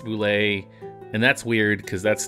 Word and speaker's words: Bulette: boule is spelled bul et te when it's pronounced boule and that's weird cuz that's not even how